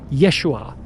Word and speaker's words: Yeshua: His real name was Yeshua Kamashiach. That's how you pronounce it in Aramaic.